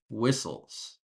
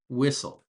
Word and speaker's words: whistle: We don't pronounce the T in whistle or the H.